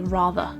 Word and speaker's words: rather: of the word but at the very end of the word there's actually no vowel sound after the end of the word so therefore we don't pronounce the r sound and we just say rather other examples where the